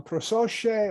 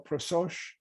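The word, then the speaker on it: prosoche: you shift perspectives um prosoci or prososh I'm not sure I've heard it pronounced two different ways just means attention and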